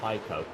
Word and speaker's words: Heiko: So how do you say it? Heiko. Heiko. Heiko. Yes, that.